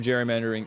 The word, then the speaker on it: gerrymandering: The uh official correct pronunciation of gerrymandering is with the J sound.